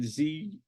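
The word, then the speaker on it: Zukor: You had Paramount, which was Adolf Zucker. It's an interesting pronunciation, Zuckor, but anyway.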